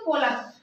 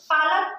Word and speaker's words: Pollock: According to पोलक, ठीक है, पालक नहीं, पोलक, ठीक है, प्रोनाउंसिएशन इसका कुछ भी हो सकता है, बट मैं इसे पोलक बोलती हूँ, आप कुछ और मतलब प्रोनाउंस कर सकते हैं इसे, बट POLLOCK, ठीक है।